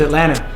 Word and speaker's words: Atlanta: When it's spelled, it's like Atlanta. Right. But we don't say the T. It's Atlanta.